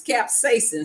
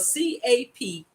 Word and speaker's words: capsaicin: I looked up how to say it because I was saying it wrong. But it's capsaicin, spelled CAPSAICIN. Grandma Hershey like to sound like she's smart.